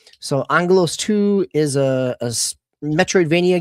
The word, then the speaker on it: Aggelos: Angalos is the Greek pronunciation for Angel. So Angalos 2 is a a Metroid Vania game.